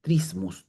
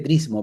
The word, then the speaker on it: trismus: Trismus. T r i m u s. Ya, también se escribe trismo, pero la palabra correcta es trismus, ya, que básicamente es